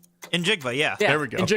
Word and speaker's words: Njigba: Yeah, he's very popular, butchered Smith Nick Jigma's name when he was butchered it. Hold on. What was that? Jackson Smith Njigba. Nope. Injigba. Injigba.